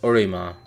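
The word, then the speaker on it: オリマー: Olimer, his name in Japanese is Orima, which is just the syllables of Mario reversed.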